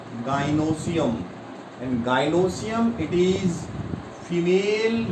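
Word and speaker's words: gynoecium: What is pronunciation? Gynosium.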